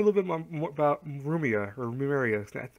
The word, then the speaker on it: Rumia: We also learned a little bit more about Rumia or Rumeria. I can never pronounce her name correctly. It's Rumeria.